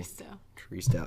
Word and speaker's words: Tristao: Tristao.